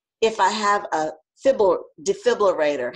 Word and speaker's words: defibrillator: if I have a defibrillator, how do you pronounce it? Defibrillator, you know, the thing that starts. Yeah, I know. I always want to say fibrillator.